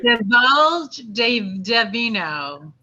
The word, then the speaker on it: Divulge D'Vino: Divulge D'VINO.